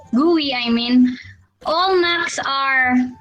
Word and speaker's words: GUI: interface or the gui or degree pronounced as gui i mean all macs